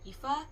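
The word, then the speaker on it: Aoife: Like EA spelled A O I F E.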